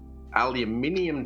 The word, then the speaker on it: aluminium: So you get some of your aluminium tape, because that's how you actually pronounce it.